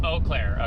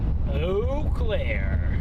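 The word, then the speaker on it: Eau Claire: Pronounced Oakclair. Okay. Yep. Oclair. Thank you for that.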